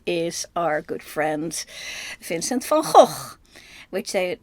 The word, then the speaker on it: Van Gogh: our good friend Vincent Fonhawk, which they and then proceed to completely mispronounce him in any of a dozen different ways, all of them wrong. His name is Vincent Fon Hawk.